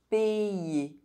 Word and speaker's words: payer: When you see the letter Y between vowels, think about the letter Y as two eyes, as it is also going to affect the pronunciation of the vowel that precedes.